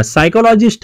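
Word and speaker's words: psychologist: सायकोलॉजीची पी एस वाय पासून सुरुवात होते. पहिलं म्हणजे इथे ना वाचताना येस या आपण साय म्हणतोय, साय सायकोलॉजी, पण आधी स्पेलिंग मध्ये पी असतो, तो सगळीकडेच दिलाय.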